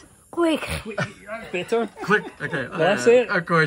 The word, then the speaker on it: Quaich: How do you pronounce it? Quaich.